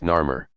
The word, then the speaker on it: Narmer: Both sides show a ruler whose hieroglyphic name would have been pronounced Narmer.